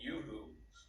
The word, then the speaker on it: uHoo: she has the product it's called Yoo-hoo uh for those of you are listening it's spelled u-h-o-o-uhu and um Excel if you